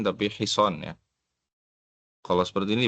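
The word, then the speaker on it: حصان: Bukan hasin tapi hison ya. Kalau seperti ini bacanya hasin ya. Ini bukan hasin tapi hison ya. Sodnya yang panjang.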